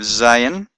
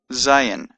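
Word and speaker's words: זַיִן: And Zayin has a Z sound, Z as in Zion. Although Zion is actually pronounced Zion in Hebrew. But in any case, the Zayin has a Z sound. The eighth letter, Chet, has a Ch sound as in Loch or Bach.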